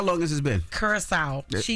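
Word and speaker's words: Curaçao: Curacao.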